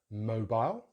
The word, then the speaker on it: mobile: And then we have the final word in British English, mobile, mo. So it's that O diphthong again, mo, with stress on that syllable, mobile, mobile. American English is slightly different. They say mobile, mobile. So these are schwa at the end instead of the I diphthong as we do in British English.